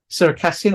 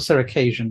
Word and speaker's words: Circassian: You can actually say it both ways. It doesn't matter. That's why it was so confusing, because some people pronounce it Circassian and others Circassian. I think one might just be a bit more of an English influence, and the other is just perhaps closer to how it's pronounced.